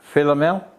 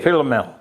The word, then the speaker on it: Philomel: Philomel. Could you spell it?